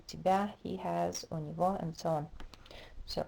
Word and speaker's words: у него: У меня, у тебя, у него, that g is always pronounced as v at the end of words.